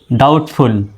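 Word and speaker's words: doubt: ফুল ডাউটফুল এবার চলুন ডাউট বানানটা দেখি ডি ও ইউ বিটি বিটি এর উচ্চারণ কেমন ডি ও ইউ তে হলো ডা উ ডি ও ইউ তে হলো ডাউ বিটি এর উচ্চারণ ট এর মতো ডাউট তো ডাউটফুল মানে সন্ধিহান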